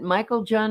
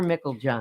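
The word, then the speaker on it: Meiklejohn: Does he pronounce it Michael John or Mickle John? He Mickle. he helped us to understand it. Like mickle, Mickle John. Mickle John.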